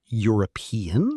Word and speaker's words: European: A European country, because European sounds like it starts with Y.